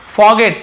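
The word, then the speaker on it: forget: यानी होता है भूलना अब आप बोलेगे सर आर लिखा है फॉरगेट क्यों नहीं पढ़ रहे हैं तो फॉरगेट लिखा हुआ है लेकिन आर थोड़ा सा साइलेंट है फॉरगेट ऐसे रहता है ठीक है फॉरगेट याने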